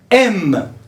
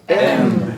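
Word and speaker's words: aimes: j'aimeaime j'aime j'aime j'aime tu m tu m c'est comme la lettre de l'alphabet m dans l'alphabet la lettre M c'est la même prononciation il aime il il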